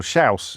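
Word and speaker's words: Chãos: Schaus. It's pronounced Schaus, like mouse.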